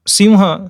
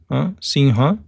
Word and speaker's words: सिंह: So simha, see why North Indians call Singha, I'll tell you. Singha बोलते हैं ना पंजाबी लोग वगैरह, सिंह लिखते हैं, सिंह. Why? Because according to another Vyakarankars, this should be pronounced as ng, जो हमारा इसमें आता है.